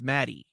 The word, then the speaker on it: Maddie: pronouncing it wrong anyways it wasn't Maggie it's Maddie Maddie Maddie MD MD